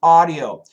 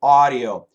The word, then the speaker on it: audio: How to pronounce audio. So in America, we say with an A-W. Audio, audio. In the UK, I believe they say audio, audio, audio, audio.